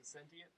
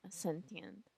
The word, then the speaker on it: Ascentient: It's Ascentient. Oh, okay. Yeah. I was like, when I received that, I was like, Yeah, I wonder how you pronounce it. it's been a mix of reactions with Ascentient or Ascentient. So either way. Okay, yeah, I was saying sentient, but yeah, I didn't know.